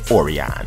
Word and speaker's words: Orion: You know, that's like somebody got a son and you don't tell them how to pronounce their name. I named him, dog. His name is Orion, okay?